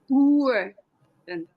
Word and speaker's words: Woerden: I'm Stephen Carlson, and our host this week is Liesbeth van Woerden, and that's my best attempt at a Dutch pronunciation. It's Woerden.